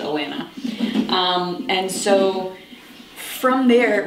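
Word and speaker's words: Alanna: the Lioness series with Alana, and then Alana, I guess as she's called. I've always pronounced it Alana.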